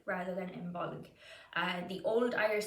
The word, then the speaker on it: Imbolc: far as i know most c's in old irish would actually be pronounced as a g not a c um but plenty of